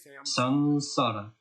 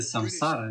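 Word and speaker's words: saṃsāra: Поэтому М с точкой снизу просто значит сансара. Сансара. Не говорите самсара. Это произошло, не знаю. Британцы сделали эту ошибку. И это прижилось. Все начали говорить самсара. Самсара. Звучит как имя какого-то парня, правда?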